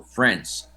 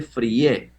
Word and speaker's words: friends: Pero les vamos a llamar en este momento friends. Friends, que se pronuncia solo la E. No se pronuncia la I, se pronuncia la E. Friends. No se dice frie, solo se dice la E.